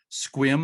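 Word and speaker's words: Sequim: is chad kaiser of new dungeness lighthouse and squim i always have to pause because it's spelled s-u-q-u-i-m but it is pronounced squim right chad uh yeah yep swim washington when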